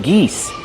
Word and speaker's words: geese: Use the long E like C and me. Geese.